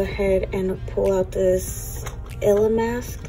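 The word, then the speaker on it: Illamasqua: And then we are gonna go ahead and pull out this Illa Mask, right? That's how it's pronounced.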